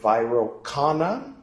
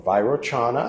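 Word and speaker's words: Vairocana: there in the center viral Khanna or viroshana I've heard it pronounced both ways uh of white skin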